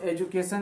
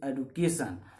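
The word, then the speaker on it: education: देखिए इसको एजुकेशन एजुकेशन ही बोला जाता है। तो ये यूजेज में आ गया है एजुकेशन, तो मोस्ट प्रोबेबली इंडियंस जो है एजुकेशन बोलते हैं, लेकिन actual प्रोनाउंसिएशन of this word is एडुकेशन। ठीक है, लेकिन ये इतने ज़्यादा प्रयोग में आ गया है कि इसको मान लिया जाता है, कोई दिक्कत नहीं है, लेकिन रियल प्रोनाउंसिएशन जो होता है उसका एडुकेशन ही होता है।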